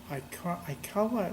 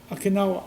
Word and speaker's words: Okinawa: And they end up in the island, I don't know where, Aikawa, whatever it is. Okinawa? Okinawa. Thank you for pronouncing the name.